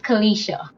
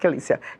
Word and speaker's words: Kelicia: It's Kelicia. Kelicia. Okay, Kelicia. All right, not Kelicia.